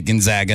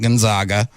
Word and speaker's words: Gonzaga: the bulldogs of gonzaga it's proper way to say it gonzaga not gonzaga and we're gonna talk